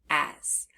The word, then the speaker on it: as: If we look at that second letter, the S, we hear the z sound, but it's spelled with S.